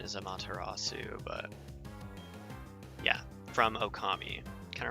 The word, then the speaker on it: Amaterasu: It kind of reminds me of Amaterasu from, or I guess the proper pronunciation is Amaterasu, but yeah, from Okami.